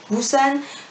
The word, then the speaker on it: Busan: pusan du san je sais jamais comment devait prononcer cet accord un qu'ils disent qu'on doit dire busan toi qui le dit plus anne je pense